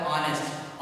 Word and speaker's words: honest: क्योंकि यहाँ पे आर्टिकल आ नहीं आएगा, क्योंकि इसका उच्चारण अलग करेंगे, प्रोनाउंस इसका होता है ऑनेस्ट। ऑनेस्ट आ से आहा के बीच में आता है, वोवेल होता है, इसलिए वोवेल से पहले किसका यूज करेंगे, आर्टिकल एन का यूज करेंगे।